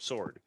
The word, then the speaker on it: sword: number in the alphabet the silent letter in the word sword s-w-o-r-d sword would be the w right it's not sword it's sword is what number in the